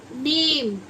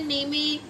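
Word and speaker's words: name: जैसे कि हमने लिख दिया नेम, अब इसे हमने नेमे या नेमी कुछ तो नहीं पढ़ेंगे ना, हम क्या पढ़ रहे हैं इसको? नेम, तो ई साइलेंट हो गया।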